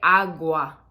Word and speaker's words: agua: agua or una bote agua agua not agua agua right so it's a little subtle distinction between where we're emphasizing the word um fear okay this